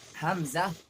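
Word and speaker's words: همزة: hamza ha These both letters pronounce from the lower part of the throat, which is near to the chest. hamza ha sound like release from the heart side.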